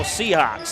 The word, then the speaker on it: Seahawk: She was like, just think of the Seattle Seahawks.